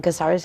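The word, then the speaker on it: Cáceres: We have visited Urbaser in, how do you say that in beautiful Spanish, Caceres? In Caceres, yeah.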